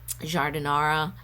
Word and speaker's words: giardiniera: And homemade giardiniera, pickled veggies type thing. Is that how you pronounce it?